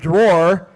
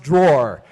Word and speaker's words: drawer: words like the word drawer he says draw draw but the word is actually pronounced drawer here I'll use it in